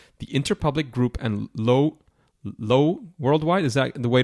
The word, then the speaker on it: Lowe: McAn World group the interpublic group and low low worldwide is that the way to pronounce it yep M yep he's also worked